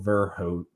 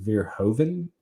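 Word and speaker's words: Verhoeven: director who was Phil verhot I would believe you pronounce it vir Hoven verhoven something like that um and so he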